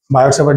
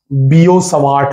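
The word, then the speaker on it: Biot–Savart: भी निकाल सकते हैं, बायोट सेवर्ड लॉ या फिर एम्पियर सर्किटल लॉ। वैसे आपको बता दूं बायोट सेवर्ड रॉन्ग प्रोनाउंसिएशन है, गलत प्रोनाउंसिएशन है, इसका सही उच्चारण है बीओ सवार्ट लॉ, बीओ सवार्ट, ठीक है, बीओ सवार्ट।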